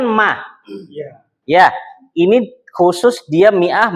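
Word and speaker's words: مائة: Ya, ini khusus dia mi'ah bacanya mi'ah.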